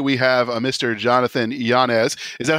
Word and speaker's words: Yanez: Got it, Yanez.